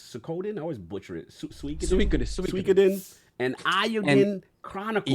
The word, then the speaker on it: Suikoden: Definitely the Lord of how we pronounce Suikoden? I always butcher it. Suikoden and Eiyuden Chronicles.